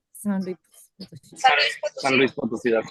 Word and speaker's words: San Luis Potosí: San Luis Potosí, that's correct.